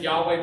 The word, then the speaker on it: Yahweh: Alright, in the Hebrew Bible, we have this name for God, which is, we pronounce it Yahweh, but we don't even know if that's actually the way it's pronounced.